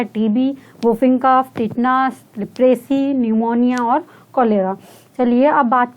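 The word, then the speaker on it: pneumonia: एन से न्यूमोनिया, यहाँ पे पी साइलेंट होता है, न्यूमोनिया।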